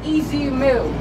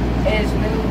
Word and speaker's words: Ez Mil: Yeah, we were watching like Easy Mill because a lot of people pronounce it as like Ez-mill.